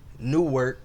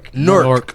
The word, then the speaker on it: Newark: We in NEWARK. Did I pronounce it wrong? Yeah, not New York. Newark.